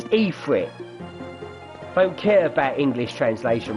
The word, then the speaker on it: Ifrit: Now, obviously, that Ifrit was blowing out fire, so wouldn't be good. Stand here and do it. There we go. And I called it Ifrit. It's Ifrit.